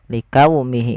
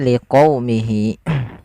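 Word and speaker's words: لِقَوْمِهِ: Liqaumihi pada lafal liquumi ini huruf qo ya. Jangan likumi jangan dibanti dengan huruf kaf. Likaumi. Likaumihi enggak tapi liqaumihi.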